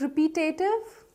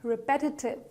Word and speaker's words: repetitive: Okay, so here, how are you going to pronounce it? Is it repetative? Not really, it's repetitive.